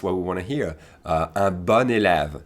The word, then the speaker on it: bon élève: begins with a vowel, make sure you pronounce it like the feminine, okay? So a good student, for instance, would be un bon élève.